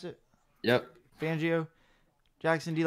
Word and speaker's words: Fangio: with Sam Donald yeah Broncos Vic Fangio you pronounce it yep Fangio Jackson do you like this move I really